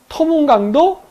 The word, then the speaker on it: 두만강: 두만강과 토문강, 이 이름을 가지고 서로 싸웠다고 하는데 두 발음은 같은 발음입니다. 두만강도 토문강이고 토문강도 토문강이에요. 원 발음은 투만입니다.